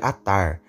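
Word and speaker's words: Adar: Síria muito frequentemente mencionadas a dar Originalmente era pronunciado na verdade atar e é uma palavra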